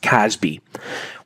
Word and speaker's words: CASB: Let's start with the cloud access security broker, a CASB, otherwise just pronounced "Casby".